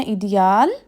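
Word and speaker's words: Ideal: مواد۔ ایڈیال یعنی آئیڈیل۔ اب ان کا جو ہے وہ سپیلنگ سیم ہے لیکن ان کے جو تلفظ ہے وہ مختلف ہے، پروننسیشن۔ انگلش میں اس کو آئیڈیل اور جرمن میں اس کو کہتے ہیں ایڈیال۔ اور آخری لفظ ہے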